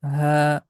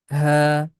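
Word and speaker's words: هاء: that is Noon, Waw, that's letter Ha, comes from the end of the throat, the deep sound, Ha, Hamza, Ya, Ya, one letter, and it has two shapes.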